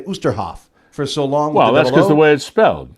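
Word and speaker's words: Oosterhoff: comes to osterhoff is how to pronounce his last name it's like Oster like toaster Oster so now I think about that oh it's like toaster it's Sam osterhoff osterhoff so you go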